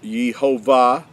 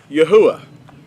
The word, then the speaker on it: Yahuah: They'll hear it pronounced as Yehovah, and but the accurate transliteration is Yahuah.